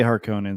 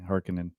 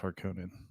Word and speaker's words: Harkonnen: I say Harkonnen, some people say Harkinin. I played Dune 2 in in 1996. Harkinan. I played Dune 2 in the 1990s and it was always pronounced Harkonnen.